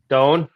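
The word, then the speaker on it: Doane: Doan University in Crete, Nebraska. Yep. How's that? Okay. Doan. Yep. Doan. All right. One syllable.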